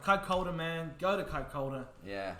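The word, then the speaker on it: Kaikōura: r but it's a maori word so it's pronounced kakoda oh god i don't even think i could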